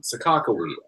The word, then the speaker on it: Sacagawea: The Sacagawea coins are the dollar coins. Oh, Bob, come on, Sakakawea. They say it like that here too, DJ.